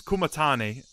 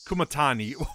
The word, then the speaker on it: Kumatani: Bzz, bzz, this is Kumatane. What? Kumatani. My bad. Oh, I just butchered that.